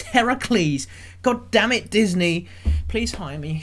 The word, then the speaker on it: Heracles: descended from the greek god heracles yes disney that is how you pronounce it you did not put